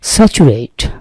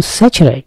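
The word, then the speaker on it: saturate: আমরা জানি স্যাটেলাইট আমাদেরও আছে, স্যাটেলাইট মানে হচ্ছে উপগ্রহ, কৃত্রিম উপগ্রহ, আবার পরনির্ভরশীল রাষ্ট্র, সেটাকে বলা হয় স্যাটেলাইট স্টেট, স্যাচুরেট নাকি স্যাচারাইট, উচ্চারণটা কিন্তু স্যাচারাইট, এই স্যাচারাইট, স্যাচুরেশন, স্যাচারাইট মানে হচ্ছে পরিপূর্ণ, যতটা ধারণ করতে পারে ততটা ধারণ করা, সোর্স মানে কি?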